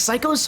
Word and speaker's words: Sickos: Oh, it's pronounced like Psychos? Oh my goodness, I'm happy you are here, Endless. See, I remember him, but obviously not well enough. Thank you, it's Psychos, got it, I'll pronounce it correctly.